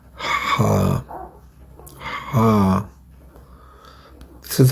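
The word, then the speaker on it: ح: Today we're gonna talk about the letter number 6 in Arabic, letter Ha. Ha. This is how you pronounce it.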